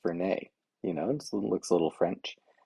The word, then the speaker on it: Fernet: his face and says, I think it's pronounced Fernet. Um, yeah, apparently the bartender gave him a little bit of a blank look and said, do you mean Fernet?